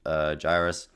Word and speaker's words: gyrus: the thalamus and left cingulate gyrus, am I pronouncing that right? Gyres. Good, gyrus.